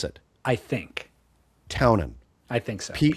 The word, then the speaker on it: Townend: He went Townend on the first one, and then Townend, I think he emphasized the D.